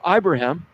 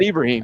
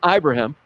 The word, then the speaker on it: Ibrahim: Jim Harbaugh talked about Tanner Morgan, Rashad Bateman, and I'm going to throw Mo Ibrahim. That's how you pronounce his name. Some people think it's not Ibrahim. Okay. It's Ibrahim.